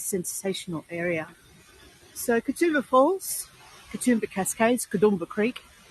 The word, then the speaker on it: Katoomba: Katoomba Cascades cadumba Creek you may have noticed there's a slight difference in the way that is pronounced and Katoomba is more or less an anglicization of the way the local indigenous peoples would have said the name for this area kudumba which roughly translates